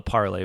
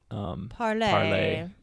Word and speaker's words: parley: It's like Harley Davidson. Yeah, but with a P. I think you can, maybe an old school way would have been parlay.